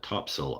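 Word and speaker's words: Topsail: In North Carolina, there's a place called Top Sail Island, and all the locals call it Topsell Island.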